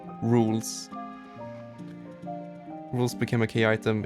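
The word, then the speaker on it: Rouxls: You see, that's how his name is spelled, but it's pronounced Rules.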